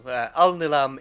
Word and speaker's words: Alnilam: Alnilam Enethær. Cashé San Visage. Nah, you're gonna have to spell that.